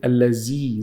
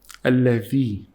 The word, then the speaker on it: الذي: Dhal is when you get your tongue out. Don't say lazee. Z is wrong. Why? Because this is the Z letter. In Arabic, this is the Z. And this is the dha. So if it's like this, you keep your tongue inside. If it's like this, you say alladhi.